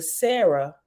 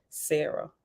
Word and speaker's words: Sarah: dance which is the Sarah the crew the creative Whirlwind and the Sarah actually is Sahara you know I said it's a r but I just pronounce it now Sarah s a apostrophe a-r-a-h anytime I say Sarah